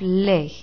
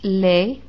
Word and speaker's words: les: it's masculine or feminine if the word is plural you have lay that's pronounced lay all by itself lay before a consonant